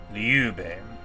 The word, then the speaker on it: Liu Bei: Liu Bei, with an accent on the second syllable.